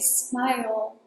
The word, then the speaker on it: smile: One more thing: when you say "smile", you have to make the L sound at the end. A true L sound: smile Moving on to the next one: "I'd" is the contraction of "I would".